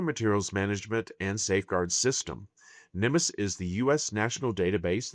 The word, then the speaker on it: NMMSS: This program is identified using the acronym NMSS pronounced NEMUS. NEUS stands for the Nuclear Materials Management and Safeguard System. Nimus is the US national